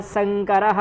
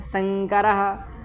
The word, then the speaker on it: वर्णशंकरः: अब यह शंकरः है, शंकरः अब यहाँ पर अब शंकर ना करें, शंकर ही रहने दे।